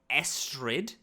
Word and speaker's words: Estrid: Is it Astrid or Esther? Because I think we've said both. So it's Estrid. It's spelled Astrid, but with an Estrid. E instead of an A.